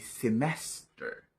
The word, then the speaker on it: semester: semester natin yon sapagkat ang tamang pagpronounce ng salitang yan ay semester semester ang stress ay nasa second syllable like semester ibig sabihin tataas ang